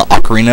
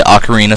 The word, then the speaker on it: Ocarina: title some people say Ocarina some people say okarina I prefer Ocarina and I think that's the technically correct way of pronouncing it I'm not entirely sure about that but I think it is so anyways uh yeah